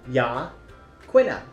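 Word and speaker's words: Yaquina: videos previous to this I was saying it wrong y yah quna can you say that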